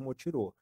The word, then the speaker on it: Motirõ: Então, ali é a sede do Instituto Motirô. E Motirô significa, né, Mutirão. É, na verdade é uma palavra, né, indígena, né, se se escreve motiron, mas se pronuncia motirô.